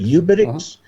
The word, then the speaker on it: uBITX: How do you pronounce it? UBITX?